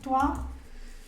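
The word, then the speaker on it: toi: como mi estrategia No aquí como tua igual tu a porque o y la i hacen ua eh eso es lo que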